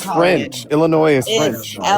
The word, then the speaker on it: Illinois: Illinois. Illinois. They don't pronounce the S is silent. I don't know why it's there, but it's silent.